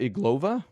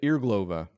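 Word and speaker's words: Irglová: can do it before the imdb loads marquetta iglova marquette irglova sorry earlier irreglovus irresponsible of how it's pronounced uh we're going to be watching that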